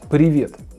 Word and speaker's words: привет: So it's привет, привет, привет, привет, привет, привет, привет, привет. Stress on the second vowel.